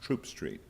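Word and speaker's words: Throop Street: now I'm petrified because there's an H in the name of her street, but it's pronounced Troop Street.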